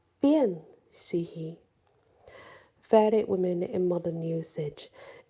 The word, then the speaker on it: Sidhe: So it is spelled Sidhe, Sihi, but it can be spelled Sidh, or Sith, but it's pronounced she.